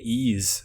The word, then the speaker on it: Ys: been playing um have you ever played the ease series spell that y s no I don't know what